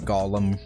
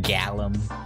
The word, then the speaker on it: golem: Yeah, they wanted it to be pronounced like Gollum rather than Gallum, I guess.